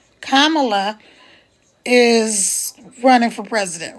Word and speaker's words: Kamala: unique situation right now because um K La Kama and then La so it's just like if you had a comma and you put a la at the end of it that's how you say her name Kamala is running for